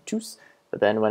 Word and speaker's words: tous: And it's also good to note that the S in tous is pronounced when it's a pronoun, but not when it's an adjective. So when it's a standalone by itself, you'd say tous, but then when it's